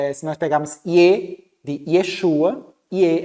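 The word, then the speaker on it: יֵשׁוּעַ: Yeshua, né, o nome de Jesus pronunciado na língua, vamos dizer, original. Yeshua, né?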